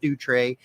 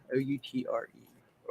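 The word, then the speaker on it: outré: It has the little French thing over the top of it.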